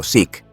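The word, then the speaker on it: Zeke: Aunque el nombre en clave oficial de los aliados era Seque pronunciado Sic, es universalmente conocido como cero por su designación naval japonesa.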